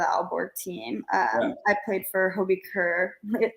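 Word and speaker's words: HB Køge: I played for Hobie Kerr. It looks like HB Coach, but it's pronounced Hobie Kerr.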